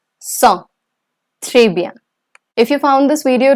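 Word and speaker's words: cent: these Catherine those catroma trees cans katramasis wheat IES enough and saw the pronunciation of 100 is song if you found this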